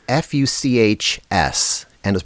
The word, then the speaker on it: Fuchs: No, it's f u c h s. I think it's pronounced Fuchs wheels.